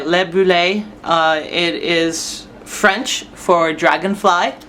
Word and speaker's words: Libellule: Her name is Libellule, and that is, I think I pronounced it right, Libellule.